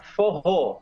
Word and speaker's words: forró: Forró, pero agudo. Forró. Forró, exactamente, con acento en la última O.